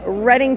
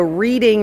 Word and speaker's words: Reading: in a place called Reading Pennsylvania you guys might know it as the reading Railroad on the Monopoly board cuz everybody always pronounces it wrong but it is the reading uh again Reading Pennsylvania where